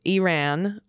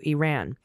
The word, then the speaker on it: Iran: Corrections next up Elise please pronounce Iran as its people do Iran or uh and Iranian